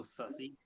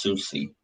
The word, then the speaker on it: Susie: Hello, Sussy. Pretty sure it's pronounced Susie. Susie.